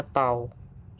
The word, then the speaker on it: tau: Kalau ada simbolnya T kayak gini, itu dibacanya namanya tau.